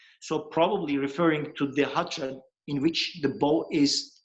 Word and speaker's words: khatra: Okay, khatra is an Arabic word again. Yes. Pronounced khatra. That's why I spell it with K and H so that the English-speaking people can read it correctly. But it caused some confusion in European people. They pronounce it khatra or something like that. It's khatra. In Turkish phonetics, we prefer pronouncing it khatra because the Turkish and Arabic phonetics are different.